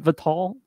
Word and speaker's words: Vital: vital lacerda is it vital uh robert you would know probably better than me i think the yeah like the english pronunciation i think the portuguese would be like vital or something but people